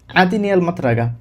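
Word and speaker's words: مطرقة: হাতুড়ির আরবি মিত্রাগা।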